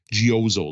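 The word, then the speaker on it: Geozzle: feedback on our game gooo that's Geo z zle e uh or I don't know it's supposed to rhyme with puzzle uh which had some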